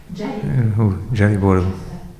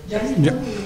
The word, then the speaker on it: Gelibolu: egy C betűvel írt, és talán S betűvel kiejtett szót, városnevet, vagy ilyesmit említett. Tehát nem a Gallipolit. Gelibolu. Akkor... Gelibolu és a latinális, tehát ami nálunk a C-fonéma, az a törökben a G.